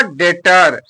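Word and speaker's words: debtor: बी होता है अक्षर क्या होता है वो साइलेंट हो जाता है इस चीज को ध्यान रखिएगा क्या हो जाएगा डेटर देखिए य पर लिखा है डेटर डेटर माने रीढ़ होता है अगला वर्ड है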